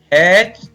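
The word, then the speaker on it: hatch: इसी प्रकार कुछ शब्दों में टी के तुरंत बाद सी एच हो तो टी का उच्चारण नहीं किया जाता।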